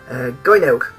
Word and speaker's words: Gynoug: Now, today we're going to look at a vaguely unknown Megadrive shooter, Gynoug, or Gynoug as I called it, or if you're